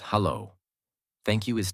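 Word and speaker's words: Halló: or doer daughter 14 hello in Icelandic is pronounced hello thank thank you is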